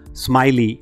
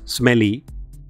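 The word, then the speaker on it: Smellie: William Smiley, yes, his name is pronounced Smiley and not Smelly, was a Scottish obstetrician whose contributions to obstetrics are immense.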